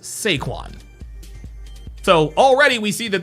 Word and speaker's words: Saquon: His name is not Saquon. His name is Sequin.